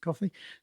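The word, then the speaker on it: Ko-fi: coffee website is that it's KO-N fi. They call themselves Kofi, I think, but it's supposed to be like coffee. So, let's pronounce it coffee.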